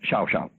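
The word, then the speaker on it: Llao Llao: In Argentine Spanish, it's Xiao Xiao.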